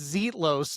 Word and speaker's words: Zetlos: It's Zetlos, not Zalitos. It's Zalitos for me. I get to name her when I pick her, okay? When I pick her, it's my pronunciation. Okay, well, it's Zetlos, but I'll call her Zalitos.